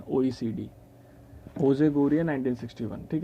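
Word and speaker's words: José: और ये जो आपके यहाँ के हेड हैं वो जोजे HO ऐसे ना, वैसे जो इसकी प्रोनाउंसिएशन है वो होजे होती है, ठीक है, ये भी इंपॉर्टेंट चीज़ है।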